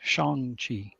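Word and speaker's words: Shang-Chi: whole scene dedicated to how say his name it's Shong Chi him and Aquafina go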